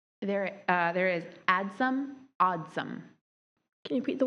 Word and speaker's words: adsum: Adsum is the primary pronunciation. Oddsum is the other one.